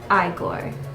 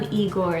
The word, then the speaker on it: Igor: Technically, it is Igore, but it's become Eigore in public.